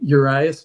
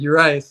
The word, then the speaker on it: Urias: In fact, a couple of my beta readers had an argument about this, and I was like, well, I always said Urias, like the planet Uranus.